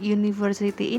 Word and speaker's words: university: Walaupun university ini berawalan huruf vokal yaitu huruf U, namun university ini cara bacanya adalah university, bukan university. Maka karena depannya huruf Y, jadinya university, kita harus pakai E.